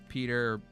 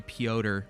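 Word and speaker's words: Piotr: Um, so now it's funny where like even though I know it's spelled or it's pronounced Peter every time, um, I always say Poder because of those two friends that I had.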